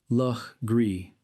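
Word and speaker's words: Legare: It is the name most likely to cause confusion in modern South Carolina where it is pronounced against all visible logic l Gree a pronunciation that residents of the state learn early as a test of whether a person actually belongs.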